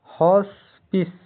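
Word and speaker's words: hospice: definite निश्चित पक्का स्पष्ट हॉस्पिस हॉस्पिस एच ओ एस पी आई सी ई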